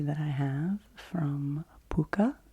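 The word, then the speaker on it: Pukka: that i have from puka i think is how you pronounce this brand p-u-k-k-a and it is lemon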